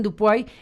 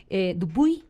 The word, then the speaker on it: Dupuy: Y está también en la mesa Dupuy, Dupuy, ¿cómo se pronuncia bien? Dupuy, perfecto. Dupuy.